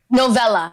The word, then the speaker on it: Novella: Your first name, is it pronounced Novella or Novella? Novella. Novella. You said it right the first time. Yes, like a short novel.